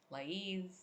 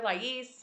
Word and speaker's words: Lais: I'm here with my beautiful friend, Lais Scort, and I say her name Lais because I speak Portuguese from Portugal, and that's the way we would say it. But people call her Lais and Lais and many different things.